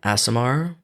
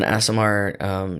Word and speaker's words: Aasimar: And then let's see, his mother figure is I never know how to say this word, an Aasimar. That's what I say. Okay. An Aasimar named Weonvi, and she looks like a falcon.